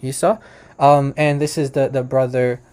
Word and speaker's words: Esau: Okay, so this is Isa, just standard English pronunciation, Esau.